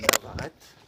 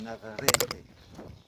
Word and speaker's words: Navarrete: Puisqu'en espagnol, il faut savoir que le E se prononce E. Donc, à la française, on dirait Navarrete. Alors que non, c'est Navarrete.